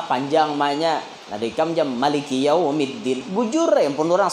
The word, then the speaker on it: Maliki: Kalau membacanya Maliki Yaumiddin, ma-nya panjang, itu 156. Kalau ma-nya pendek berarti 155. Maliki Yaumiddin. Boleh baca Maliki Yaumiddin itu dua, Maliki atau Maliki.